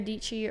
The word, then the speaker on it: Dietschy: It's your girl, SARA DIETSCHY, rhymes with peachy.